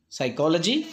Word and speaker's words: psychology: Next, silent P, psychology. Obviously, the first letter is silent.